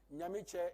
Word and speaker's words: Nyamiche: You go name your company, Nyamiche and Associates. They will say Namike, Namike, Namike, and you'll be so upset. You say, listen, it's not Namike, and you'll be upset and leave.